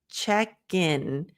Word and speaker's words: check in: So instead of check in, gin. By linking the k to the I in, you don't even have room to mispronounce or to add a syllable.